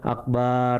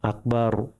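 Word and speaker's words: أكبر: Bukan akbar itu salah. Akbarnya pendek akbar dan rnya juga tahfim tebal.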